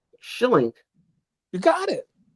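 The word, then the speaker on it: Schilling: Schillink. You got it. How you pronounce it?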